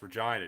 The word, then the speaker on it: Regina: No, it's Regina.